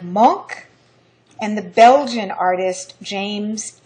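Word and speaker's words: Munch: century German expressionism are the Norwegian artist Edvard Monk and the Belgian artist James ensor monk is spelled Ed well his first name is spelled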